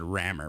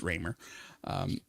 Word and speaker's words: Raymer: I about said Rammer, but it's Raymer.